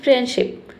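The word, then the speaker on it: friendship: लेकिन आप बोलते हैं फ्रेंडशिप। फ्रेंडशिप कितना अच्छा लग रहा है सुनने में और करेक्ट प्रोनंसिएशन यही है।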